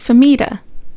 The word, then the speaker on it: Fahmida: Your name pronunciation. Is it famida? It's famida.